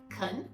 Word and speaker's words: can: for native speakers so the first one I said is they can come on Friday c-a-n but I rate it as Khan they can come they